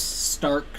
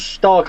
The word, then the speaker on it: Stark: correct yep uh fenris stark and called felbringer oh femoris stark i thought was fenris star nope stark so is it just